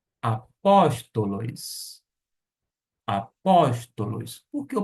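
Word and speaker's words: ἀπόστολος: Apóstolos. Apóstolos. Por que eu pronuncio desta maneira? A sílaba tônica se encontra aqui. Apóstolos, e não apostolos.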